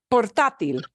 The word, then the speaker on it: portátil: Portátil. Yes. Sí. Yes. Sí. Portátil. Because it is not portátil. Portátil is not the way that word is pronounced. It is pronounced portátil.